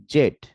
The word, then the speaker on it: Z: ইউ এক্স এক্স ওয়াই জেড এখানে দেখেন যে ব্রিটিশ উচ্চারণে এটাকে বলা হয় জেড এবং ইস এক্সেন্ট এটাকে বলা হয় জি ওকে ফলে আমরা দুটাই শিখলাম জি অর জেড ওকে ফলে আমরা এখন